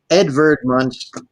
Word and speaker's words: Edvard Munch: the school utcs things I know so uh Edvard Munch and so the V is pronounces at w in german yes um so